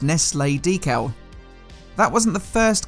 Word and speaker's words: Nestlé: This wore a Nestles, now pronounced Nestlé, decal.